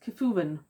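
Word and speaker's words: Cefwyn: of Welsh is that that would be pronounced Kafuven and I don't mind kubuvenen with a hard C, more like a K.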